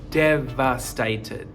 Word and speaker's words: devastated: Your teeth are on your bottom lip, so devastated, okay? Just again, devastated. So with the pronunciation of the V, your teeth are on your bottom lip, like that.